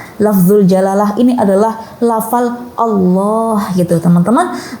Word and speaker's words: Allah: Lafzul jalalah ini adalah lafal Allah gitu teman-teman. Kalau bisa melafalkan yang fasih ya teman-teman, benar-benar dibaca Allah gitu. Gimana nih, kan kadang orang itu ada yang bilang Allah gitu ya, Astaghfirullahaladzim, Subhanallah, ya Allah, apalagi sampai ya Allah.